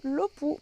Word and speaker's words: low poo: On va continuer dans cette série de vidéos sur les définitions et on va parler aujourd'hui du LOPU. Qu'est-ce que c'est le LOPU? Alors, le LOPU, donc ça s'écrit L-O-W plus loin P-O-O, de l'anglais.